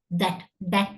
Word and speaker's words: that: ரெண்டாவது வந்து that இல்ல zat இல்ல, it's that, right?